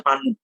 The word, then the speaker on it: panu: Tulisan itu sebenarnya panau, teman-teman ya. Di KBBI itu tulisannya panau, tapi karena pengucapan jadinya panu ya.